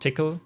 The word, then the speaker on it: Tcl: it myself i picked tickle or tcl the language typically is pronounced tickle at least i was told so um even though it's